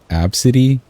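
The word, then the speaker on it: Abcde: Bad names constantly bring me back to the story of the girl whose name was Absidy, but it's spelt A-B-C-D-E, and like the flight attendants or whoever were just laughing at the name.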